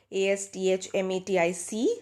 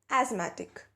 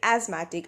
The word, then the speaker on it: asthmatic: And also there's a word called A-S-T-H-M-A-T-I-C. So this would be asthmatic. So asthmatic, quite like asthma, you say asthmatic and not asthmatic.